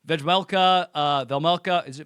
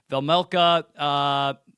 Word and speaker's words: Vejmelka: Velmelka, it's not Vejmelka, you don't pronounce the J. Velmelka, it's a top.